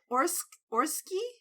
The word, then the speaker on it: Orczy: I don't know how to pronounce her name. Baroness, is it Orski?